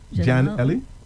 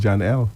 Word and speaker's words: Janelle: How do you pronounce that? E-L-L-E? Ellie? Jan Ellie? Janelle? No, it makes sense. It's Jan L. Okay, fine. Right. Jan, Jan by itself and E-L-L-E. So Jan L.